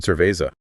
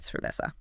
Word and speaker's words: cerveza: The locals there speak with distinction, meaning there's a crisp difference between an S sound and a soft C or Z. Oh, like the word cerveza. Right, cerveza.